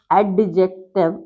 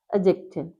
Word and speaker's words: adjective: D, and J combined, the sound of D will be silent. So we don't call adjective is the wrong. It's to be pronounced as adjective.